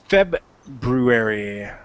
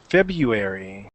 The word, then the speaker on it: February: a very distinct voice just looking there so febuary February I used to say February and I am